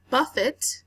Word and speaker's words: buffet: Buffet is how you say this word. Buffet is a verb. However, it does look like buffet, all right, which is completely different. Buffet, when pronounced like that, means to slap or to cuff or to strike repeatedly.